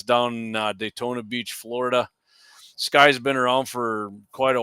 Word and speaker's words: SCCY: So you into familiar the with it's spelled SCCY Sky Firearms?